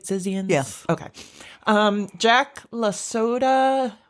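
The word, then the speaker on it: Zizians: the group uh am I saying it right zizan yes okay um Jack lasoda uh 34 years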